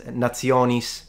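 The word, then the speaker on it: nationis: Latin because for instance the t is pronounced like a zed which is how it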